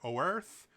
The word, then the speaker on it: Oerth: And the world it happened on was called, you can pronounce it Earth or Oerth. It's spelled Oerth.